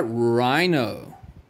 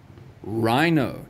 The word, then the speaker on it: rhino: in anchor what about rhino rhino do you hear the h do we say hi no or is it just r i no that's correct boys and girls the h is silent put an x all